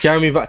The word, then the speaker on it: Jeremy Vine: Oh no, how did you pronounce Jeremy it? Vine, yes. Jeremy Vine.